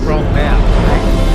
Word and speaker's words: Bromma: Yes, you guys know me as a Bromma, as you pronounce it. It's Bromma.